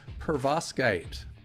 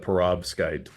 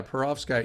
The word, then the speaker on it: perovskite: what we're going to talk about today is pervoskite did I pronounce it right pretty close perovskite yeah perovskite you know what's kind of cool about it